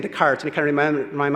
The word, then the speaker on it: Descartes: I was saying Descartes, and he kind of reminded me, it's like saying Illinois, and I forget, these are French words, and you don't pronounce those.